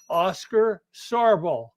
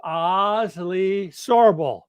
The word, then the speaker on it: Asle Sorbel: Minnesota his name is whoop his name is Oscar sarbo it's pronounced Ozil sorbel well one fateful day September 21st 1876 Oz